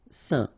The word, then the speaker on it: saint: Alright, so final T not pronounced, and then when you combine this A-I-N here, you get the un sound. Saint.